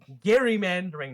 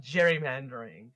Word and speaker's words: gerrymandering: Yes, it's it is Gary mandering, not gerrymandering.